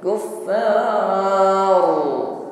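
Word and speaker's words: الكفار: Karena kita wakaf di situ, hukumnya menjadi mad arid lisukun. Kuffar. Boleh kita panjangkan 1, 2 sampai 3 alif atau 6 harokat. Kuffar. Ra-nya getarannya tebal.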